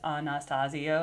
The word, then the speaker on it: Anastasio: it's Trey Anastasio because it's Anastasio and it's five syllables.